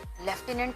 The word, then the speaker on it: lieutenant: लेफ्टिनेंट spelling सुन के, pronunciation सुन के spelling से समझ में आती है कि LEFTINENT होगा, पर ये रॉन्ग है।